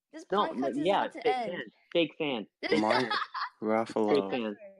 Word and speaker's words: Ruffalo: Mark Fake Ruffalo. fan. It rhymes with buffalo.